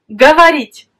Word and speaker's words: говорить: Le verbe говорить, parler. Говорить. On écrit говорить. Mais pourtant, on prononce говорить. Parce que l'accent frappe la voyelle I.